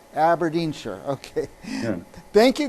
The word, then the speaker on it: Aberdeenshire: you say aberin Shire how do you say the name aberin Shire aberin Shire okay yeah thank thank